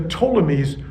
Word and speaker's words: Ptolemies: was ruled by the ptolemies that has a silent p at the beginning but the ptolemies ruled and and then